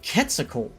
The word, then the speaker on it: Quetzalcoatl: You pronounce it Quetzalcoatl, basically.